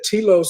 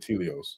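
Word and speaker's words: Telos: I might have been pronouncing it wrong. Yeah. Tilos. Subterranean city beneath Mount Shasta. Tilos. Okay, there we go. Mount Tios. Yeah. Tilos. Tilos. I said Tilios.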